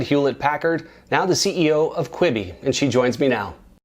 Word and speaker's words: Quibi: may have heard about the new streaming service kwibi q UI bi that's how it's pronounced kwibi it's a new streaming service specifically for your